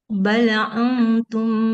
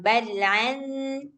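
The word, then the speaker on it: بَلْ: Balum basyarum mimman khalaq. Sekali lagi. Bal jangan balan. Dia Hamzah kayak kita bilang aku.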